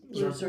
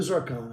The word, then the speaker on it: zircon: Ziron, I said I'm sorry. Blue zircon. I said it wrong.